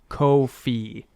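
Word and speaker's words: Ko-fi: is drop the I am told it is pronounced Kofi uh which is sort of a digital tip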